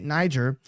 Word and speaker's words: Niger: military base in Niger be careful that you say Niger that's how it's pronounced be very careful there one of the